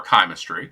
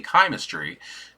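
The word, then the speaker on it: Chimestry: in the mail but I have heard this said both kimistry chemistry kimistry there's a few different ways of pronouncing this I say kimistry due to the connection with the Fay and chimerical objects that is why I say that shim hisory can make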